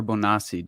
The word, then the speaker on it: Bonacci: Didn't Paul Bonacci, and is it Bonacci or Bonacci? Do you know exactly? Bonacci. Okay. That means I've been mispronouncing it.